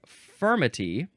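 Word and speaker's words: furmity: The second way is spelled f u r m i t y and that is firmity.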